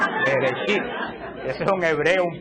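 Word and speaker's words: בראשית: ¿Alguien se acuerda cómo se dice en hebreo? No, Shibirichibi, no, Bereshit. Bereshit.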